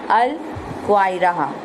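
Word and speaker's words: القاهرة: Pronounced कैसे कर सकते हैं हम? अल, उसको क्या और क्या कहते हैं हम इसको? अल क्वाइरा।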